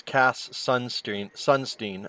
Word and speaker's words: Cass Sunstein: It's Cass Sunstein. I was saying his name wrong.